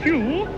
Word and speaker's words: Pugh: It's pronounced Pugh, but it's spelt Pug.